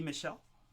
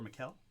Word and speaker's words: Michel: Next, I've got Freddie Michel, or Mikel, or Michael. I'm going to choose to pronounce it like Sonny Michel.